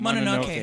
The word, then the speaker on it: Mononoke: Mononoke.